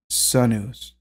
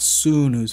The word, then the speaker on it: sunus: word sun s-o-n and it is pronounced Sun News Sun News right not sunus but Sun News so let's look like